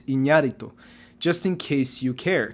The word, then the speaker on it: Iñárritu: Fernando Moreno says the Spanish pronunciation is Iñárritu.